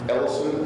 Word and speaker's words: Ellison: Ellison, E-L-L-I-S-O-N.